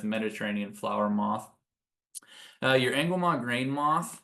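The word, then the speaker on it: Angoumois: flower moth uh your angua grain moth it's pronounced kind of like it's French it's angam grain moth they're the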